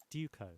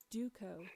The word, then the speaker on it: Duco: Duco. That is the British pronunciation. Duco. That's English. US English, anyway. Duco. That's the Australian English. Now, Duco, originally US, now chiefly Australian.